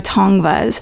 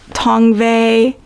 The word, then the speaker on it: Tongva: For about 8,000 years, the San Gabrielino Tongvas, and I've also heard it pronounced Tongve, which is by the woman who documented the language. So Tongva, Tongve, be aware there's multiple ways to pronounce it.